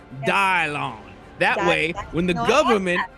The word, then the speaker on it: Dylan: yeah I know it's because my name is spelled d y l a n and most people say that's Dylan but I'm not one of most people you know I'm off the grid I'm pronounced dialon that way when the